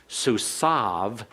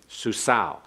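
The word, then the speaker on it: סוּסוֹ: susau in classical Hebrew susav in modern Hebrew okay susau I understand that in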